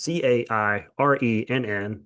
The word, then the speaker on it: Cairenn: Her name is Karen, but it's Cairenn, the Irish spelling of Karen.